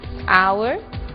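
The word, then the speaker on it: hour: Blue White red yellow o som do H pronunciado desde a garganta como em hot e mudo em três casos our honest Honor e a frase de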